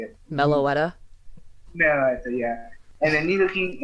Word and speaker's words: Meloetta: Meloetta, Meloetta, yeah.